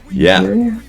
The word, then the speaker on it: Niger: It's a country in Africa that used to be colonized by the French, and Nigeria? Not Nigeria, no, Niger. That's how you say it.